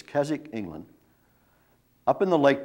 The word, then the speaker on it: Keswick: remember that's k-k-e-s-w-i-c-k about the w is silent in the english pronunciation it's keswick england up in the